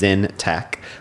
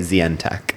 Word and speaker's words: Zintech: So you I how you pronounce my last name is Zintech, but most people say Zech.